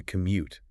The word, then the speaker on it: commute: The commute. The commute. That's a great word. Listen to the rhythm of that word, everyone. M u t e. The stress is on the second part. Commute.